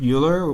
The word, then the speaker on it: Euler: And I find for that, I would recommend like something like Project Euler or Euler, depending on how you say it.